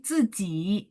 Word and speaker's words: 自己: Jadi Z itu bacanya C, cuman I-nya nggak bunyi I, tapi bunyi E ya.